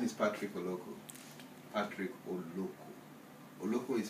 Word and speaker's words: Oloko: start from nice okay my name is Patrick oloko Patrick or local is spelled o l o k o I am